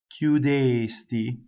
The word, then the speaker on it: chiudesti: Go up to the K, don't say it. Cchiudesti, cchiudesti, cchiudesti.